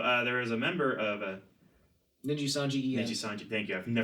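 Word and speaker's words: Nijisanji: Yep, that's I as far as I know, it's pronounced Ninji Sanji.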